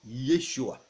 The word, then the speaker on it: Yeshua: hébreu et en aramé salut se prononce Yeshua le mot salut en hébreu se prononce Yeshua se dit Yeshua ainsi avant de mourir